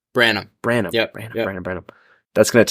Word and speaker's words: Branam: No, it's some people call it Branham, all sorts of different things. I've always just said Branam. Yeah. So it is Branam.